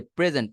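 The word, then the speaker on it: present: সামনে প্রকাশ করা সো প্রেজেন্ট প্রেজেন্ট শব্দটা একটা ভার্ব এই প্রেজেন্ট শব্দটা যেহেতু আমার ভার্ব ভার্বের ক্ষেত্রে আমি কি বলছি দুই নাম্বার সিলেবলটাকে জোরে বলতে হয় তাহলে প্রেজেন্ট আই এম প্রেজেন্টিং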